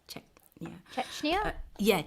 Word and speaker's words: Chechnya: i made sure to know how to like pronounce the the the plays czechner i think it's czech yeah chechnya yeah chechnya so that's basically where um you know i